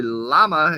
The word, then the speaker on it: llama: Llama is pronounced with a Y sound by many Spanish speakers.